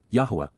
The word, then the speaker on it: Yahweh: us including God himself Yahweh Yahweh the proper pronunciation of the name of eloah God as